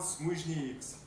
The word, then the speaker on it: Смужниекс: торкнул местный житель, Смужниекс. Только недавно я узнал, что все фамилии в Литве мужские начинают с ударением на первый слог.